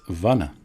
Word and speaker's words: vana: monkey in fact the word for forest is vana with a short a and a vannara is